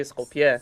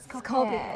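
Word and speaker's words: Скопје: But the letter J is pronounced as Y in Macedonian. Instead of Skopje, we say Skopje. Skopje.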